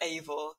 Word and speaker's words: Eivor: Is it Eivor or Ivor? Eivor, which is disappointing to me because I wanted to be able to call the male version Guyvor if it was pronounced Ivor, but it's pronounced Eivor.